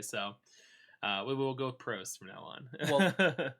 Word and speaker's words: Prost: Called the Prost.